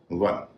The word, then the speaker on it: one: एक ऐसा शब्द भी है जिसमें न वी है न डब्ल्यू है, उसका उच्चारण व हो रहा है। वह शब्द है वन, ONE। इसमें न वी है न डब्ल्यू है, इसका उच्चारण तो वन। यह व जो है ये डब्ल्यू का व है।